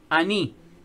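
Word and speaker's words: אני: Pero cuando vemos yo soy, es, ¿cómo se dice yo soy en hebreo? Ani.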